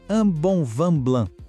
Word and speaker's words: un bon vin blanc: Vamos analisar a frase un bon vin blanc, que significa um bom vinho branco. Olha só, un, bon e vin são todas vogais nasais.